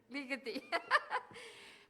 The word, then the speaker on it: Ligeti: In February 2017, he appeared at the Bedford Festival in New Orleans, where he performed Gregory, how did you pronounce that? Ligeti.